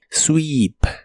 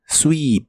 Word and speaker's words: sweep: de inglés es sweep la doble e de esta palabra se pronuncia como una doble I sweep sweep y en el presente